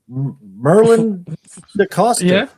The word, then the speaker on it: Merlijn Decoster: Special guest, former pro, Merlijn Decoster. Yeah, you pronounce it good.